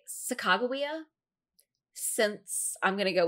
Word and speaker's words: Sacagawea: Some people think it should be pronounced Sakakawea. Nobody really knows. I'm going to say Sakagawea, since I'm going to go with the Hidatsa pronunciation.